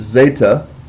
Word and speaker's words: zeta: Our next letter is the letter zeta, and it's just pronounced like a Z, just like the Z in days.